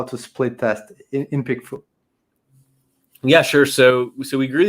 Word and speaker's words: PickFu: What's the right pronunciation of that? PickFu, yeah, that's perfect.